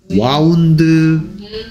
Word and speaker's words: wound: 이거 감다 동사니까 3단 변신하는데 와인드 와운드 와운드. 얘를 와운드라고 읽으면 와인드의 과거 과거 분사형도 됩니다. 그러니까 운드라고 읽으면 상처고요.